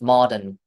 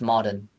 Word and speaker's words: modern: There's an There's an There's a r there, but you don't actually pronounce it.